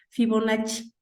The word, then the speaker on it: Fibonacci: fibonacci anotenla por ahí se escribe fibona doble c porque es italiano cc fibonacci y en la secuencia